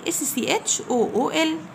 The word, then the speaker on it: school: walk w a l k to t o school s c h o o l هنا ال c بنطقه كي بقول walk to school يمشي للمدرسة.